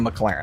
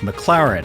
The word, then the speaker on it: McLaren: bragging about his cause don't only own a McLaren I used to have a 570s that was